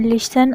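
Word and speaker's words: listen: जब एस एफ के बाद टी आता है तो टी साइलेंट होता है। Example लिसन, often.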